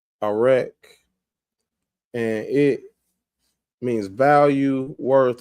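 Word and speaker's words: ערך: And now this word value is coming from, they pronounce it an erek. And this is the Hebrew characters right here. So we got the ayin, the resh, and the kaf, arek, and it means value, worth, or valuation.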